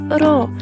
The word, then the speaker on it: r: تعني نفس صورتها بالظبط، فم الإنسان وتحته الشرطة يبقى دي كلمة فم وتنطق را.